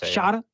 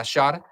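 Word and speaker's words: Shota: Shada. Yeah, Shada.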